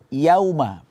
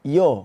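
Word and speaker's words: يَوْمَ: keempat Yauma yakununas Yauma Yauma di sini seringnya kita mendengarkan kesalahan di sini ya ituu kita baca pengucapannya seperti o yo karena di depannya ada wau sukun yo ya ya enggak ya itu harus kita buka mulutnya infitah senyum ya ya ya setelah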